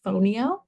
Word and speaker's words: fonio: so this is phono it's spelled f n IO fonio and I have seen